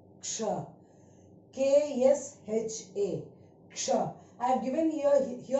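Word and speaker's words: क्ष: Now the first one we pronounced as ksha, ksha, k-s-h-a, ksha.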